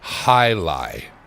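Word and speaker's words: jai alai: Spell it Jaialai, and it's called Jailai.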